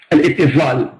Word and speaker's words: الاتصال: So number one, الاتصال. الاتصال. That in the way of Arabic, the way we pronounce it, الاتصال.